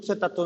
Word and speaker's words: सुत्त: दूसरा क्या है, सुत्त पिटक। सुत्त, सुत्त मतलब वो पाली में रा का उच्चारण नहीं किया जाता है, तो सूत्र है एक टाइप से।